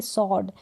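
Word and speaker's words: sword: अगर आपको तलवार सॉर्ड की स्पेलिंग लिखनी है तो एस के बाद में आपको डब्लू ज़रूर लगाना पड़ेगा, ध्यान रखें। तो डब्लू से पहले एस लेटर हो तो डब्लू क्या है, साइलेंट रहता है।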